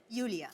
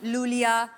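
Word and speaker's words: Iulia: pronounce Yulia. Yulia. And the spellings are I-U-L-I-A. So I Thank क्यों God you मतलब? know. I mean, why I? Thank God. Everyone is calling me Lulia, Lolia.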